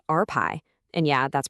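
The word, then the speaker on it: rπ: The first part is something called R pi, And yeah, that's pronounced RPi.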